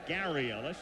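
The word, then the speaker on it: Garry Ellis: Wilson Gary Ellis and that is the way he pronounces it even though he spells it g r r y it's Gary Ellis and he's been here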